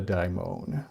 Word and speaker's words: daimon: he had within him what he called a daimon, or people might nowadays pronounce it demon if they're British. Yeah. And Americans, we would say, I don't, a daimon probably, I guess.